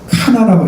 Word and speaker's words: 가나: 가나는 카나라고 읽어야 됩니다. 카나.